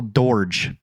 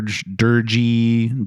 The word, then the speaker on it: Doerge: It's Dor Durgy. Dorier. It's not spelled Durgy. It's D O E. It's spelled like George, but you flip the O and the E, but you don't pronounce it like it at all.